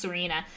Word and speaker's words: Cyrena: It's a I instead of a E, which doesn't make sense. I just decided that's how it's spelled, but it's pronounced Serena.